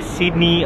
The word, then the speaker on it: Sydney: It's Sydney. Sydney. Yes. So short knee. Sydney. Yes. Sydney. Just say it lightly.